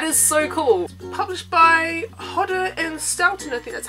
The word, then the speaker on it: Hodder & Stoughton: and frost that is so cool published by hodder & stoughton earthy that's how you say it that is